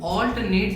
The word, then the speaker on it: alternate: तो हम कहेंगे यू ऑल्टरनेट between running and cycling. इसका उच्चारण करते समय दो बातों का ध्यान रखना है। पहला कि ऑल और नेट पर जोर रहेगा, लेकिन ऑल ज्यादा ताकतवर सुनाई पड़ेगा। ऑल्टरनेट।